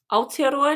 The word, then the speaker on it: Aotearoa: Say it again, how you pronounce it? Aotearoa, New Zealand.